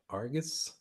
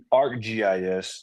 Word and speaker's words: ArcGIS: How do you pronounce that? Argus? ArcGIS.